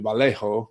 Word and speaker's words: Vallejo: down the road to Vallejo California I'm pronouncing that right that's a Spanish version and he bought properties